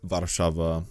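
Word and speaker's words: Warszawa: Warsaw for that matter or crock off or vada Sheva that's how it's actually pronounced in Polish but anyways please don't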